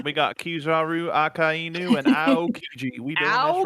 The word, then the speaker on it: Akainu: I hate this guy, but how do you pronounce his name? Akanu? Akainu.